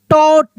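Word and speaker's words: taught: अब यहां पे जी एच साइलेंट है। ये साइलेंट है। इसको हम लोग टॉ तो इसको हम लोग पढ़ेंगे टॉट। क्या पढ़ेंगे? इसको हम लोग टॉट पढ़ेंगे। टॉट टी ओ यू जी एच टी यानी जी एच साइलेंट रहेगा। ठीक है?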